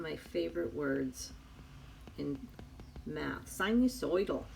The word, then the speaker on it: sinusoidal: Sinusoidal. You got to say it like you're from New Jersey, which my mom was.